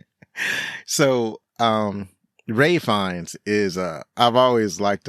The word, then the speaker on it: Ralph: It's like I see his name is spelled Ralph, but it's pronounced Ray. So, Ray Fiennes is, I've always liked him.